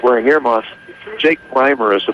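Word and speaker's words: Rimer: my head set I like wearing Heros Jake Rymer is the pronunciation of his name r i m e r did I say reer no I've been I've been saying I've been saying Ramer all night because I have a relative uh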